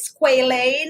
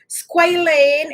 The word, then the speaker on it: squalane: also correct you have squalane if it's pronounced like that i'm gonna pronounce it like that because of the a and you also have